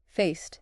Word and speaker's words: faced: The a is the long a sound as in say or face, not the short a as in fast or cat. So faced, not faced. And the ed ending is a taste sound after the voiceless s.